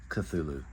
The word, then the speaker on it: Cthulhu: over the new Lancer Tactical cthulu yes it's pronounced cthulu I looked it up I ran it by